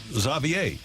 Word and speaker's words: Xavier: v i e r is pronounced as though it starts with a z like zavier while traditionally the name